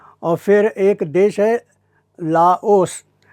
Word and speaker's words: लाओस: फिर एक देश लाओस यह फ्रेंच लोगों ने आखिरी में एस लगाया है फ्रेंच में जब आखिरी में एस आता है तो उसका उच्चारण नहीं होता है तो यह होता है एओ लव तो लव के नाम पर